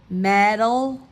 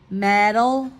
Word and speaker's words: metal: we know the D the t's sounds between the vowels will sound like a d so those were examples